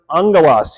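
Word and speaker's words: ἄγγελος: Now, that is a diphthong. Those two come together and they make the sound ng. Okay?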